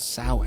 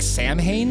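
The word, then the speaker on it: Samhain: with a Celtic tradition called sin mhm which is spelled like Sam ha or something totally every time you see it you think it's Sam ha but it's s it's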